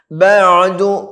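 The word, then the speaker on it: بَعْدُ: ഫമാ യുകദ്ദിബുക പിന്നെയോ ബഅദു ബഅദു ബഅദു ആയിന് ശ്രദ്ധയോടെ പറയണം. ബഅദു ബിദ്ദീൻ ബിദ്ദീൻ ബഅദു ബിദ്ദീൻ കേട്ടല്ലോ.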